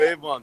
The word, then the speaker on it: Avon: For the town of Avon.